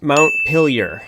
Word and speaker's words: Montpelier: Montpelier. I don't know if that's correct, but you know, I'm sure I'm close. It's actually pronounced Montpelier.